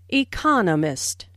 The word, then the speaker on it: economist: Smith is an Economist noce the stress on Economist this content word has new information so It is emphasized there are four syllables in Economist with the str on the second syll Economist he just finished Writing